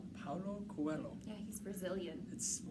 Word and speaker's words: Paulo Coelho: Paulo Coelho. Paulo Coelho.